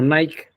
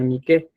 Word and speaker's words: Nike: vez que veamos esto, se lo voy a pronunciar como Nike, no Nike, sino Nike.